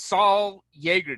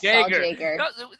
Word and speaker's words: Saul Jaeger: Yeah, my notes, Saul Yeager. Did I get that right? Jaeger, yes, Saul Jaeger. You never know. You always think that, okay, I should pronounce this like a Y, and then you go there and you actually do have to say the J.